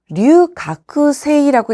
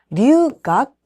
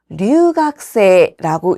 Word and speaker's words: 留学生: 이때 유학생 발음 주의하셔야 되는데요. 써있는 그대로 류가쿠세이라고 읽는 것이 아니라 류각세라고 읽습니다. 따라서 류각세라고 읽는 것이 올바른 발음이고요. 류가쿠세이라고는 읽지 않습니다.